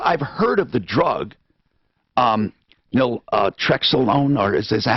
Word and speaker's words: naltrexone: Now, of course, I've heard of the drug, naltrexone, or is that how you pronounce it?